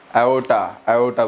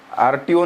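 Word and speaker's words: aorta: एओर्टा बोलते हैं. आरटीओ नहीं. एओर्टा.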